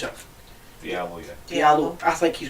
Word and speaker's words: Diallo: The young boy they brought in, is it Diallo, you pronounce it? Diallo, yeah.